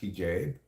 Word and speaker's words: hijab: It's actually pronounced hijab.